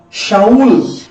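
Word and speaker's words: שאול: Na verdade, a palavra Saulo, ela pronuncia no original como Shaul. No original, irmãos, pronuncia-se Shaul. E os de língua, os romanos, que falavam latim, eles não conseguiam pronunciar Shaul.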